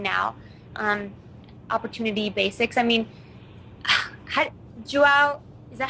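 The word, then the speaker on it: João: I mean, Joao, is that how you say his name, Joao?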